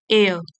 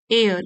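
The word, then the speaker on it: heir: His eldest son एंड एयर, एयर इसमें H silent है।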